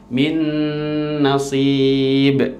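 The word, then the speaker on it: مِن نَّصِيبٍ: Jadi langsung min nasib dimasukkan, dan cara membacanya dimasukkan dan juga ditahan dengan gunnah 2 harokat, min nasib.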